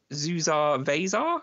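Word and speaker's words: Zusar Vasar: since I saw a screenshot of it is zuar vasar am I pronouncing that correctly yes you are yes probably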